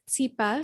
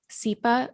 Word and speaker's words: Tsipa: So my name is Tsipa, spelled Tsipa, and it's a Jewish name, a Russian Jewish name.